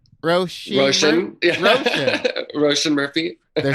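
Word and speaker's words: Róisín: Roshin? Roshan.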